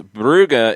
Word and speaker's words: Brugge: the pronunciation thing um burn says buuga is the Flemish German pronunciation Brugge is the French pronunciation that's how I've generally